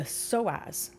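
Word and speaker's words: psoas: So to get to that wavelength of joy, you must release the soaz, which is spelled P S O A S.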